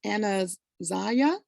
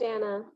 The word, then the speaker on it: Anna: Is it pronounced Anazaya? Anazaya? Just Anna.